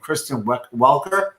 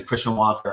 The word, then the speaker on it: Kristen Welker: The woman who was hosting the last debate is named Kristen Welker, and it's just everyone was pronouncing Christian Walker on TV, freaking me out. They were listening to this slightly gently mispronouncing with like a Canadian accent. It sounds like Christian Walker.